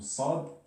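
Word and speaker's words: صاد: Donc ça c'est plus, on va dire, plus volumineux dans le sens où on le prononce d'une voix qui est grave.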